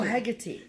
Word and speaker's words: Hecate: Hecate. Oh, Hecate.